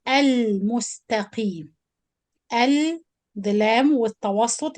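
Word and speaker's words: المستقيم: So I give it tawassut time and I pronounce the lam because the spoon on the top, or this is Lam Qamariya and we're supposed to pronounce it clear.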